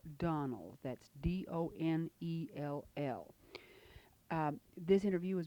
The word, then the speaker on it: Donnell: I believe you mispronounced it. It's Donnell.